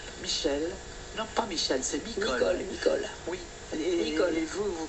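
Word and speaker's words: Michol: M-I-C-H-O-L, prononcé Micol.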